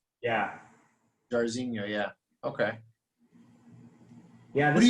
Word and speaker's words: Jairzinho: How do you pronounce his first name? Jairzinho? Yeah. Jairzinho, yeah.